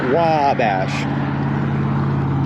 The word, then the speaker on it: Wabash: it wrong isn't it wabosh no it's like they they just really elongate the the wa so it's like wow that in wabash it's really weird